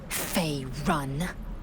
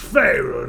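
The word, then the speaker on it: Faerûn: Fey run. It's pronounced Faerun, actually.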